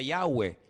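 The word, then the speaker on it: Yahweh: yod he Bad hei verdad ese nombre se pronuncia yahwe Ese es el nombre que aparece en el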